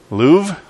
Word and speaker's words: Louvre: say it right how do you say it Louvre alright see I'm married to an art teacher